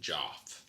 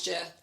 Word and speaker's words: Geoff: Because you spell Jeff with a G. Some people just spell Jeff with a G. It's like Geoff. I think... You're right. I know I am. I think they pronounce it Joff. No, it's not. It's Jeff.